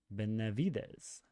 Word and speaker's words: Benavides: Sergeant Roy Benavides. How do you say that? Benavides.